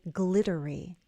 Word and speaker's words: glittery: So in your mind, change those two T's to a D and say glittery. Glittery. That's a flap T.